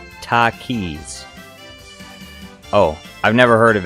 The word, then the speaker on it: Takis: no clue says spicy chip brand but it's pronounced Takis oh I've never heard of it so I